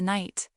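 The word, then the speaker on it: knight: I looked at the picture of the night. I looked at the word k n i g ht. The silent k didn't trick me this time.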